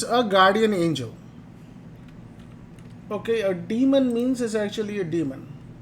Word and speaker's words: daemon: so we'll talk about daemon here d-a-e-m-o-n actually is pronounced demon not daemon but that's how you